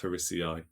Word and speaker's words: harrisii: Or harrisii, sorry, it's pronounced harrisii. Which Looney Tunes character would have a real name of Sarcophagus harrisii?